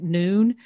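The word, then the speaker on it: Nuun: And this is, I like Noon. It's spelled capital N-U-U-N.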